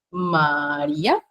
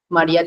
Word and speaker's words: María: y diptongos y bueno en la sílaba Ari lleva tilde Y acá es donde se carga la voz o se pronuncia con mayorina per con mayor intensidad lo mismos con la